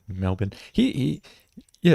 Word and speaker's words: Melbourne: Melbourne Melbourne yeah yeah you got to say it the right way because Americans say Melbourne Mel but Melbourne he he yeah it's